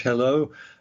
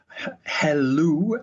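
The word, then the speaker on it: Helou: Prince at Caltech George hello hello I think is how you pronounce it h-e-l-l-o you know it could be hell ya know hello he said getting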